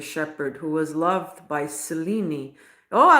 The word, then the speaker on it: Selene: How do we pronounce it? Selene.